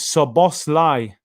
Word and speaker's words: Szoboszlai: was a nightmare uh i am hungarian dominic's name is sabos lai this is the way you spell it okay daniel give